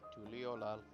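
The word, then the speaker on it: Tuliyollal: There seems to be like 2 ways to pronounce it. Just the one, Tuliolal. Because sometimes whenever I hear Wuklamat, I hear like she puts like an emphasis on the yo. It sounds like a yo.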